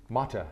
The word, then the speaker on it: Motte: Motte, Motte, yeah. which is spelled M-O-T-T-E.